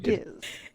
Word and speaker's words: Giz: Is it Giz or is it Jizz? Oh. So it's Giz. It's Giz. Giz. With a hard G. Both Genji and Giz are hard Gs.